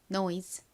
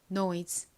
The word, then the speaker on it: noise: 주세요 다음 단어 보겠습니다이 단어에서는 se 스 소리가 아닌 즈 소리로 쓰였어요 어떻게 읽으면 될까요은 니은 소리 나고 oi는 O 소리가납니다 연결하면 노이가 됐죠 그리고는 소리가 나니까라고 발음됩니다 no 노즈의 의미가 뭘까